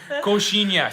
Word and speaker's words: coxinha: So, coxinha or pastel? Sorry, coxinha or pastel? Cozinha. Cocina or how do you pronounce it?